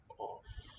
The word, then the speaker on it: עוף: It sounds like an O, and it's always going